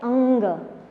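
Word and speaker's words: ङ: इसका pronunciation perfect ऐसा होता है अंग।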